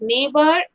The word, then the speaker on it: neighbor: from these three words these four words neighbor daughter fight and strange can you tell me the silent letters gene look carefully neighbor and actually these are the pair of letters exactly G and engine SC G H here also G H here also G H and yellow so G H